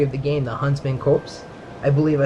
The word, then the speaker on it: Copse: the game, the Huntsmen Copse. I believe I said that right. I have no idea. I actually used to call it Corpse. But I believe I said it wrong.